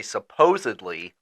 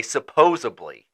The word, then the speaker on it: supposedly: A lot of people in Cincinnati don't say supposedly, they say supposably, and it drives me like nails on a nuts.